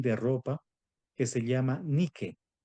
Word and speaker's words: Nike: ropa, que se llama Nike, Nike, ¿verdad? Zapatillas Nike, o creo que también hay ropa Nike o Nike. En realidad sería Nike. Solo que nosotros lo pronunciamos a la gringa, Nike, ¿verdad?